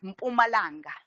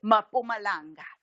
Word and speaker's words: Mpumalanga: So you'd find English first language speakers cannot say words like Mpumalanga. The MP word initially just doesn't exist in English. So what do? They do what you find in English. You find in English map at there's a vowel at the beginning. So they would say Mpumalanga. So they're inserting what you call an unstressed vowel at the beginning, as